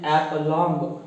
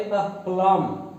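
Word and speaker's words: aplomb: अब ये हमारा वर्ड है जिसको हम रॉन्गली प्रोनाउंस करते हैं एप्लॉन्ग, यानी प साउंड भी बहुत क्लियर देते हैं, फिर लास्ट में ब साउंड भी क्लियर देते हैं, जबकि हमारा जो प्रोनाउंसिएशन होगा हम इस ए को अ कहकर अलग तोड़ेंगे। ये अमेरिकन स्टाइल है, तो आप कहेंगे अप्लम, अप्लम।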